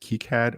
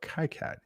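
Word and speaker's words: KiCad: Oh, also there's two official ways to pronounce it. Keycad or Kyad, your choice, apparently.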